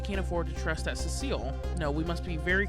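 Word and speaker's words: Sissel: I know it also might be pronounced Sisle, but that just sounds a little weird, I guess. I don't know. Could be either one, though.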